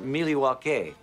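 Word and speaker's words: Milwaukee: was the movie Wayne's World milwa actually it's pronounced milwa which is El gin for the good land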